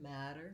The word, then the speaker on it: matter: put those two together matter matter you might find that challenging so to break that down we have first syllable stress in the word matter and it has the a black cat vowel and uh i'm gonna